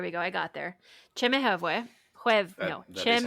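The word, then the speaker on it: Chemehuevi: Chimichhueve. That is how she pronounced it, yeah.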